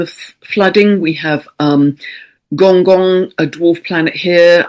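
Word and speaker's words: Gonggong: On this same theme of flooding, we have um Gong Gong, a dwarf planet here. I think it's pronounced Gongkun at almost 6° of Pisces conjunct the North Node.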